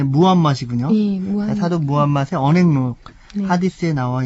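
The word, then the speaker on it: 무함마드: 하디스 지금 그 사도 우리 보통 그 어렸을 때는 마호멧 이렇게 배웠기 때문에 버릇이 되었는데 예, 원래 발음이 무함맛이군요.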